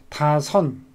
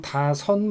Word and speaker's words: 다섯: 시옷이 미음을 만나면 발음이 니은으로 돼요.